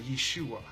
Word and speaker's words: Yeshua: who are Messianic Jews who still pronounce Jesus name as kind of Yeshua with a Y and that's kind of like into our vernacular of what we assume as Joshua so yes duh there's no J in the Hebrew alphabet